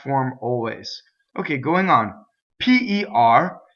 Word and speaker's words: per: P-E-R is closed. A, per. Okay, it doesn't rhyme with the fruit, pear.